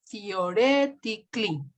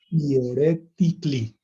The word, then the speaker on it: theoretically: Hagan de cuenta que no está la A y juntan la C con una sola L y la I.